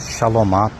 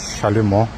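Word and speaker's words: şalümo: geçiyor beton Arma üzerine şaloma pürmüs Aslında doğru telaffuzu şalumo bu şekilde ek yerleri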